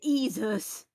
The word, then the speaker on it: Exuz: Pronounce it as Jesus.